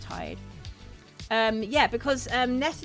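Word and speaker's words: Tadhg: Yeah, it's spelled it's spelled T A D G H but it's pronounced Tide.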